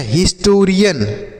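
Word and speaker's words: historian: तो एच आई एस को हम पढ़ते हैं क्या पढ़ते हैं? हिज। क्या पढ़ेंगे? हिज पढ़ेंगे। उसके बाद टी ओ को हम पढ़ेंगे टो। तो ये होगा हिस्टो। आर आई से पढ़ेंगे री। ए एन को पढ़ेंगे यन। तो ये हो गया हिस्टोरियन।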